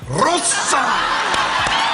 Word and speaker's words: Rosa: her name is Rossa Rosa Rosa but you have to say it like you have to really roll it long pause you have